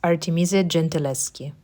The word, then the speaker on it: Artemisia Gentileschi: Apart from two paintings by Artemisia Gentileschi, how to pronounce her name? I found this one later. It's Artemisia Gentileschi, Italian painter.